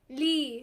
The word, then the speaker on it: لي: Rhymes with B. لي.